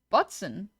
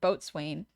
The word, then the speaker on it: boatswain: That's how it's pronounced. Oh, Bosen. Bosen. Bat swing. Bosen sounds like I said it from a joke. Almost everyone I met pronounces it boatswain.